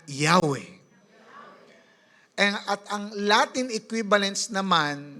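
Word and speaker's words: Yahweh: o wh wy okay ay bibigkasin as yahwe yahwe sabihin nga yahwe at ang Latin equivalence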